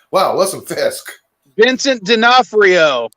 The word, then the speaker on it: D'Onofrio: from daredevil like wow what's a fisk vincent d'onofrio it's nafio thank you sorry his name is hard to pronounce okay but today i i actually have